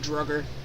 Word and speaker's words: Draugr: We just pronounce it Drugger.